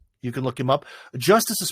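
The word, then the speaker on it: Justus: can look him up justice is spelled j-u-s-t-u-s I always thought he was Justice like for justice in America g-u-s-t-i-c-e but no it's a U.S pronounce the same um you know you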